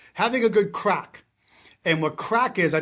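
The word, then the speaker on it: craic: It's having a good crack. And what crack is, I believe they spell it c r a i c.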